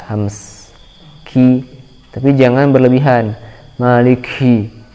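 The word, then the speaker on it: مالِكِ: Maliki, ki, cukup mengeluarkan udara yang sedikit ya, ki, dan tetap jelas sifat syiddahnya, sifat tertahannya suara. Ka, ki, kalau diucapkan maliki, hi, kurang jelas syiddahnya. Maliki, tapi harus dihentak, awalnya dihentak kemudian keluar udara ya.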